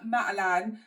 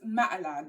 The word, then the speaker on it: Matalan: picked up from Matan am I saying Matan properly now because one of the ladies comment she said that I was saying it wrong so I think it's Matalan I think that's how she um kind of said that I needed to say it um so yeah I